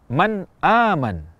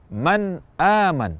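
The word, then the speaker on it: مَنْ آمَنَ: bertemu Hamzah di kata Man aman Man aman kita ucapkan Nun dengan jelas tanpa tambahan kadar gunah dan juga tidak ditahan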